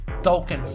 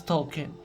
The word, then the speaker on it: Token: far was always always always pronouncing token's name as token and not as talking and there are multiple